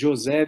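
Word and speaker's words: José: is Jose and we pronounce Jose because I'm originally from Brazil so to speak Portuguese but you know having lived in Texas for over 30 years I got used to be called Jose a lot so I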